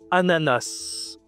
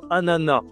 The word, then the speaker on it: ananas: C'est un ananas. Un ananas. C'est masculin. D'accord? Un ananas. Tu peux aussi dire un ananas. Les deux prononciations sont possibles.